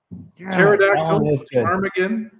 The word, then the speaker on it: pterodactyl: still works though there's no p a silent p silent p pterodactyl it's the same joke